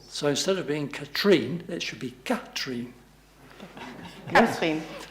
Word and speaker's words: Katrin: years I've been saying Katrin's name incorrectly. I always put the emphasis on the second syllable, but it should be on the first syllable. So instead of being Katrin, it should be Katrin.